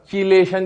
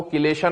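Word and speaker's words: chelation: हम लोग जानते हैं हाइड्रोजन बॉन्डिंग के टाइम पर भी हमने बात करी थी किलेशन प्रोसेस की, है ना, चिलेशन जिसको आप बोलते हैं, तो वो चिलेशन नहीं होता, वो किलेशन होता है, ठीक है।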